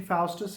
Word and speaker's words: Faustus: इसकी प्रोनाउंसिएशन फाउस्टस है, नॉट फॉस्टस, फाउस्टस।